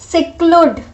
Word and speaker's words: seclude: वे pronounce this word as seclude. seclude. This instead of e, हम e तो लिखते हैं बट वी pronounce it like c.